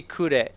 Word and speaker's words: Kure: Yeah, well, it'd be Kure. Kure. Okay, so Kure.